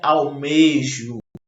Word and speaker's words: almejo: do módulo de vocês, elas devem ser pronunciadas com o E fechado, tá? E não com o E aberto, Almejo ou é almejo? Então, o correto seria almejo um futuro legal.